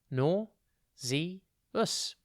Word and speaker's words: nauseous: one word at a time today's word is nauseous it's pronounced nor zee us and it's spelt n a u s e